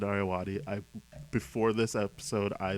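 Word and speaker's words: Ayoade: last name Richard aati I always thought it was aad yeah but it's Richard aati I before this episode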